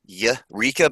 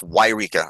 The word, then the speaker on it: Yreka: Yreka. Yeah. So Yreka, I know it's really weird. It's spelled like Y and then Reka, so it looks like Yreka, but it's Yreka. It's bizarre. Yep. It's like Wyoming.